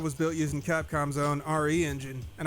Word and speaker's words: RE Engine: built using capcom's own re engine and i guess it's pronounced re-engine because it's short for reach for the moon not resident evil like i thought the re-engine is based